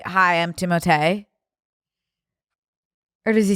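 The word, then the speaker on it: Timothée: Are you really Timoteay? I thought it was Timote because of double E at the end. He's being silenced. Oh, but I would not oblige you to say it like that. Timote.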